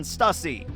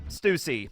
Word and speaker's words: Stussy: pronounce her name any i think in the japanese it's stucy and in the uh english because the english dub of this just came out they pronounced her name stussy so whatever you can